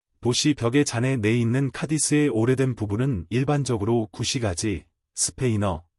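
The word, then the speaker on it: Cádiz: 영어에서는 전통적으로 A의 예리한 악센트 표시 없이 철자가 쓰이는 카디스라는 이름이 다양하게 발음됩니다. 액센트가 두 번째 음절에 있을 때는 일반적으로 발음되지만 액센트가 첫 번째 음절에 있을 때는 일반적으로 미국 영어에서 이와 유사하게 발음될 수 있습니다. 스페인어에서 악센트는 철자에 따라 항상 첫 음절에 있지만 스페인의 일반적인 발음은 현지 방언이지만 대신 카이즈, 카이 또는 카, 아이라고 말합니다.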